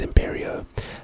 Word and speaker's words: Imperio: as bad as the first two so it's pronounced imperio the type is of course curse and its